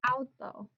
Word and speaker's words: auto: Like in the word auto. No broken diphthong here. Auto. Two-syllable word. Falls under accent rule 1. Verbal stress is on the second to last syllable.